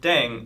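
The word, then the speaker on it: 땡: playing with language now the pronunciation of deng is similar to thang which is the slang of thing in english last but not least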